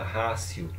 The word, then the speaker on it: Ratio: Escreve com T, mas é latim, pronuncia Ratio, Ratio Studiorum.